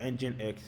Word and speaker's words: nginx: what engine X means nginx is spelled nginx but engine X is an open source